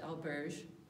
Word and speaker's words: auberge: In Spain, the word is albergue. In France, it's the same word pronounced auberge.